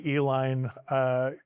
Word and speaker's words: Uihlein: Pabst went into a processed cheese product, and the Uihleins created the Uihlein, spelled phonetically E-L-I-N-E, candy company.